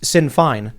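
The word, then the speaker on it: Sinn Féin: Irish republicanism where now the Republican party is Sin Fine is how you pronounce it yes it's in fine uh and it's just a matter of seeing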